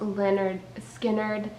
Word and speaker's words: Lynyrd Skynyrd: I was looking at their first album It's pronounced Leonard skinnard and notied I know almost all their songs